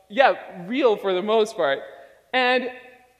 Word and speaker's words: real: See, in Portuguese, the way that you say real is real. So let me teach you how to say it. So on the count of three, let's say he. So it's hey, but without the E sound.